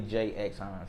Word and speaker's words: Jxhines: But it's silent. People skip over it all the time. Some people say Jxhines, some people say Jxhines. How do you say it? But it's really Jxhines.